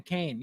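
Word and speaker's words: Caine: name in the movie Kane Kane Kane c a i NE e Kane Kane like the wrestler Yes except not spelled k a n e it's spelled c a i any now look at the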